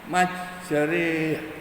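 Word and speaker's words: مجراها: Yang dibaca imalah itu biasanya itu ada pada ayat Bismillahi majriha wa mursaha. Biasanya dibaca Bismillahi majriha. Hanya itu alif panjang, re-nya itu alif bengkong.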